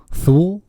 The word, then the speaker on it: Thule: I never heard you call it Tool in front of me. I would have called you a Tool. Thule.